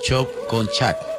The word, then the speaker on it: Choconchá: Bueno, se pronuncia Choconchá, que quiere decir hoyo profundo de agua.